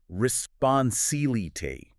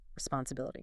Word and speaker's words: responsibility: Responsibility. 26 syllables. That's a question itself. It's a marathon of a word. Let's talk about the stress, because that's key. The primary stress is on the second eye. Responsibility.